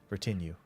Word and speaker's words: retinue: Retinue. So the emphasis will be wrong, or the That'll warm me.